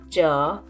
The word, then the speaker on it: च: will learn cha cha all the consonants or vengean of the second group are pronounced using hard palate which is the bony region at the top of the mouth shown in the picture with orange dot so first pair in